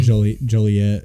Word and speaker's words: Joliet: It's in Joliet. That's how you say it, which I think is fine.